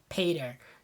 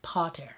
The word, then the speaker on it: pater: That's something we always have to be careful of, not to pronounce our Latin A's like pater. Now it's pater, right?